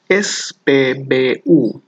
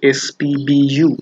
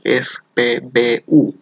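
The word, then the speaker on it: SPBU: সবলুম, সবলুম, petrol pump, এস পে বে উ। ওকে, ওরা কিন্তু ইংরেজির মতো এস পি বি ইউ এরকম উচ্চারণ করে না, ওরা উচ্চারণ করে এস পে বে উ, অথবা পম বেনসিন, আপনি যেটাই বলেন না কেন সেটাতেই ওরা বুঝবে।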